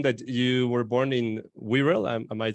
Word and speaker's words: Wirral: Because I'm seeing that you were born in Wirral.